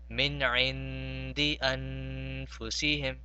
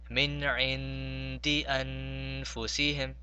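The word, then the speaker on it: مِنْ عِنْدِ أَنْفُسِهِمْ: And the other two, we see that the letters that follow them are not from huruf halki. They are not from huruf maloon, and they are neither a ba. So we have to prolong those for 2 seconds.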